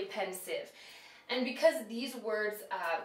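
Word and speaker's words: Pensieve: e v is pronounced you might think it's pensive but it's actually pensive and because these words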